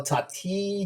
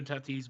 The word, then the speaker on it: Tatis: diego padres shortstop uh fernando tati junior is that am i pronouncing that right yep yeah actually uh yeah fernando tatis but yeah okay okay